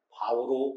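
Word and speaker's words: 豹: 중국어로 표범 표자는 소식을 알린다는 알릴 표자와 같이 바오로 발음이 됩니다.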